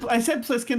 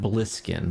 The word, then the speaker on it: Plissken: Plissken. What was it? Snake Plissken. Snake Plissken. Snake. Is it I'll Snake? allow it. It's Snake Plissken, yes. I said Plissken the first I thought I time. said Bliskin, but okay.